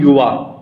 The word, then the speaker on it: YUWAAH: अगला क्वेश्चन है, महिला और बाल विकास के सहयोग से किस संगठन ने युवा और लोगों को उत्पादक जीवन और कार्य के